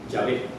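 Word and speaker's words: Yahvé: Y el nombre de Dios, yo soy, se escribía con estas cuatro consonantes que los judíos pronunciaban así, Yahé.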